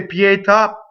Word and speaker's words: pietà: So when you say pietà, pietà, see, you have a double P on the next pietà, pietà, pietà. So that's a two-syllable word that causes a phrasal doubling.